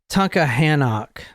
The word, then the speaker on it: Tunkhannock: It's Tunkhannock. T-U-N-K, Tunkhannock. Very small town in Pennsylvania.